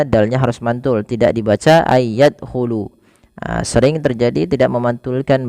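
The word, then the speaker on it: أَنْ يَدْخُلُوهَا: Kemudian pelafal ay yadkhulu sama ada nun sukun bertemu dengan huruf ya. Maka cara membacanya sebagaimana ayudkaro yaitu masukkan nunnya kepada huruf ya dan bunyi nunnya hilang kemudian terdengar hanya bunyi yanya saja dan ditahan sepanjang dua harakat.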